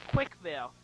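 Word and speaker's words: CWCville: in Animal Crossing it's the city's name is quick Ville see those are my initials CWC that's why it's spelled that way and my character's name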